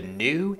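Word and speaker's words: gnu: couple three-letter antelopes you'll find useful are the new and the cobb the g of nu is silent so be careful not to miss it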